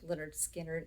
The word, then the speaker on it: Lynyrd Skynyrd: record leonard skynyrd and this is pronounced leonard skinner it is a fantastic